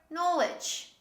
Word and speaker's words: knowledge: we say these words one of such examples this is no no we don't say no yeah very simple this is no or knowledge knowledge we don't say